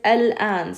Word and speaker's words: الآن: Wa, and this word right here is al-an. Starts with alif lam, al. And you're pronouncing that lam, right? Because there's a hamza after it. That alif madda is the sound of a hamza with an alif.